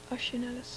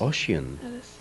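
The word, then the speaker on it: Osian Ellis: Welsh Harvest and um how does he say his name oan Ellis oan Ellis yes oh I've been mispronouncing for a long time and it has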